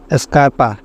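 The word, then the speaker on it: scarpa: থাকে উচ্চারণ ইস হবে স্কারপা জুতা সি এর পরে নেই এজন্য উচ্চারণ ইস্ক হবে স্কার্পা জুতা স্কোপা ঝাড়ু স্কোয়ালা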